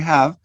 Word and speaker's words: have: The first one, we use the weak form. Have you eaten? Have you eaten? But the second, we use the full.